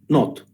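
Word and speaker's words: knot: таке вузол ну по-перше вузол позначається нот буква к не читається що таке вузол Може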